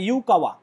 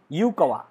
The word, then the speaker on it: Yukawa: দিয়েছিলেন বিজ্ঞানী, জাপানিজ বিজ্ঞানী ইউকাওয়া, সাকুরতো ইউকোয়া, YUKAWA, বানানটা একবার দেখে নেবে, ইউকাওয়া, ঠিক আছে?